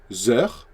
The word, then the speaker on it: heures: And since the sound is a vowel, like vowel sound, the H is silent here, you have to do a liaison between this and this.